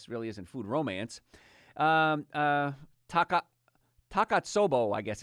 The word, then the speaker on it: Takotsubo: Takotsubo, I guess it's pronounced.